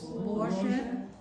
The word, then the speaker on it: Боже: So it's like, No, it's Borget. The accent is on the O.